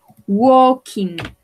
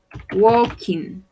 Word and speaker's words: walking: club working to work este verbo se pronuncia de una manera particular lo vamos a pronunciar la ele y la a va a sonar como una y entonces lo pronunciamos walking walking to work uy continuo